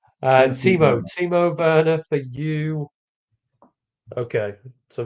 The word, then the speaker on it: Timo: Timothy Werner, yeah? Timothy. Just pronouncing everybody's first name wrong. Timothy Werner. Timo Werner for you.